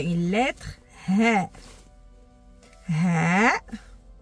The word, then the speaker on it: ه: On est arrivé à une lettre Ha. Ha. C'est une lettre qui, on peut dire que tant que prononciation, ça n'existe pas en français.